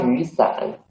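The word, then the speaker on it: 雨伞: When we read this phrase, do you find 雨伞? There are two third tongues, so 雨 should be changed into the second tongue. 花雨伞。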